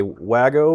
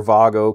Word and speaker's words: Wago: differs slightly from um a Wago or wo or Vago connector whichever way you prefer to uh pronounce it um which is